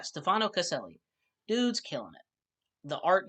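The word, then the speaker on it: Stefano Caselli: these freaking ads okay Stefano celi is what it looks like that's how that looks it's pronounced oh D sorry guys having a bad time with acid reflux at the moment um yeah Stefano casselli dude's killing it the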